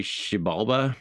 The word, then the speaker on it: Xibalba: He lives in the Mayan underworld, which, Pat, I'm going to say Xibalba is the name, is how you would pronounce this? Xibalba?